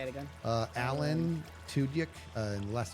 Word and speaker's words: Tudyk: How do you pronounce this last name? Alan Tudyk? And then so Alan and last name is Tudyk.